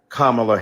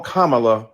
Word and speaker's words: Kamala: insisted upon misnaming mispronouncing kamla Harris do you call Melania Melania do you call Ivanka Ivanka then call Kamala Kamala then call vice president Harris